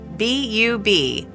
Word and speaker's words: Bub: Her name is spelled in all capitals, purposefully, B-U-B, Bub, is a victim of genetic abnormalities since birth and has conditions like dwarfism and mismatched jaw.